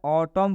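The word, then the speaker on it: autumn: Example में लिखा है ऑटम, एन साइलेंट होता है, ऑटम पढ़ेंगे।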